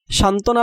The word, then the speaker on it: সান্ত্বনা: সান্ত্বনা বানানে দন্তনয়ে তয়ের সাথে বফলা থাকায় বফলার উচ্চারণ হবে না।